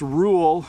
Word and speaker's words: rule: Rule is kind of a weird tongue motion. Rule, like your tongue moves.